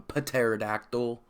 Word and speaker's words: pterodactyl: You can fly on pterodactyl dinosaur robots now. That's right. That's right. Pterodactyl. I don't believe in silent letters. I just don't. Okay? If it's silent, just don't have the letter there. Anyhow, that's a whole nother tangent.